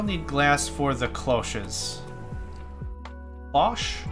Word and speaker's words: cloche: I think it's pronounced cloche. It's definitely a British word. I was talking to, what does he go by now? Crab Lord? I think he verified it's cloche for me.